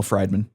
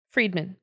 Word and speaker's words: Friedman: this guy being Daniel fried Minh I just looked at you know it's actually fried Fri Friedman Friedman okay cool yeah it's German